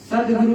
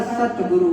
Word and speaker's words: सतगुरु: सदगुरु नहीं होता, सतगुरु होता है। जो भी लोग कहते हो सदगुरु, तो गलत है।